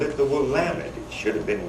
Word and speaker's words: Willamette: made fun of us not knowing how to pronounce the name of our own river. We called it the Willamette. It should have been Willamette, they said.